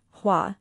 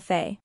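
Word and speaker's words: 花: It's looking at flower, hua, not looking at fa.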